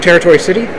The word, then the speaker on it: Tarot Tori City: and that's right it's the city is pronounced territory city as in Tarot like the card but it's written as